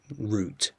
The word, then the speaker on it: route: this, and he says some people do use route in America as well, but the tendency is route is the one you're more likely to hear in America. Route is what you're more likely to hear in England or the UK.